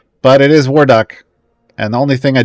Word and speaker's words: Warduke: Yorven's in 10, and Warduke is in 8.